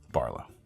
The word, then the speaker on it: BRLW: That's the way it's pronounced. There's no vowels in it. It's BRLW. BRLW, all caps, no vowels. Barlow.